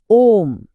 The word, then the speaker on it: ॐ: अब देखिए ओम का उच्चारण तीन हिस्सों में बंटा है। अ, ओ और म।